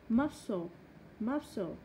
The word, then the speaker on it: muscle: Ok, C không được phát âm trong âm ghép C. SC muscle scissors.